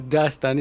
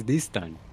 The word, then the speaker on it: Distan: It's not Dastan, it's Distan. Yeah, but also like I mess up the accent because we also accent the stan on the second syllable, and I try to